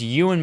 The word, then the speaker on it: Ewan: a classification no no no no E1 like Ewan Oh I thought you said E1 no E1 E1 as in the actor who plays Obi-Wan you and McGregor yeah well but Tim got can't pronounce names yeah it's Ewan McGregor Tim Ewing you